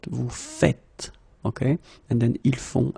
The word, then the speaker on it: faites: The first one here for pronunciation, nous faisons, and the second one here because you write it like that and it's not vous faisiez but vous faites.